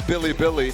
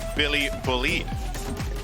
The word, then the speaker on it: Bilibili: a global stage as Billy Billy to really deal with that fact so they got oh did not come back maybe Billy bullied why would you pronounce it like that what is what is